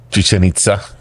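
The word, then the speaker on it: Chichén Itzá: Chichen Itza.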